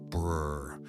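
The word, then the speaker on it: BRRRR: The genre pronounces it brr like a shiver and has never once found this alarming.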